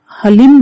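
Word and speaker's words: ह्लीं: मंत्र साधना कर रहे हैं तो आपको इसका उच्चारण हलीम ही करना चाहिए है इसका जवाब साधना करें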